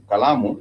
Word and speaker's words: kalamu: an example of calamu kalamu is a pen has three syllables ka la mu And the final you know the way it ends is with moo moo.